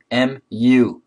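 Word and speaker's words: μ: know the mean this is the letter mu muu pronounce mu it's Greek letter stand deviation this is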